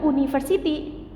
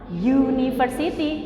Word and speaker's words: university: Tapi kalau university tulisannya depannya u, tetapi cara bacanya bukan university, cara bacanya adalah university. Jadi kira-kira pakai atau en?